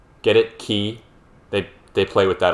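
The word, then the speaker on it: χ: guess it is pronounced key get it key they they play with that a lot in this series the letter x being pronounced key like the greek letter key because keys get it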